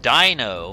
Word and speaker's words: Deino: today we're looking at i believe it's pronounced dino which is stupid zweiless and hi dragon